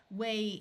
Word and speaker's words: whey: caught for food whey note the silent h again wey is an ingredient left